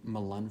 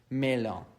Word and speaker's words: Melun: And then after that, I went to a place called Melun, France, and that's spelled Melun, not to confuse it with Milan,